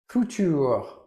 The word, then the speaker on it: Futur: adjustable razor, the Meur Futur. If you're pronouncing it like a German futur, I'm doing my best. I'm probably throwing in a bit of French accent in there as well.